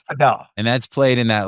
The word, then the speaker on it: padel: Yo, so Pedell, which you guys are calling Padell, by the way. All right. Is spelled P A D E L. And correct. That's Pel.